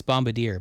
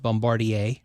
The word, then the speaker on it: Bombardier: You might think it's Bombardier, but it's not. It's pronounced Bombardier.